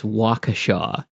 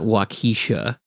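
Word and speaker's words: Waukesha: Um also, not to be that guy, but it's Wakaasha, not Wakisha.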